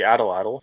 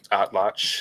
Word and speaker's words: atlatl: The atlatl, or atlach if you prefer a more proper pronunciation, spear thrower, remained the